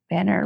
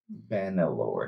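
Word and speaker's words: Banlor: Banner Lord. Banelor. B A N. Ban L O R. Banelore. Not banner.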